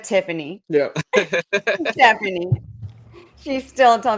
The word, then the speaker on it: Tiffany: But my grandma, my whole life, I'm 35, has called me Cheffany instead of Tiffany.